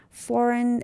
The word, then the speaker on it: foreign: Foreign, again, G is silent.